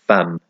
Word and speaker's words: femme: And as far as I know, femme is the only instance I can think of where that E is pronounced like an A, like femme.